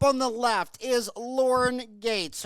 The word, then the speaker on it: Gueits: Up on the left is Lauren Gueits. Her name sounds like Bill Gates, but it's spelled Gueits.